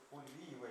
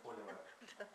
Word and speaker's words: фульвиевая: Меня поправили, правильно говорить, фульвиевая кислота, а не фолиевая.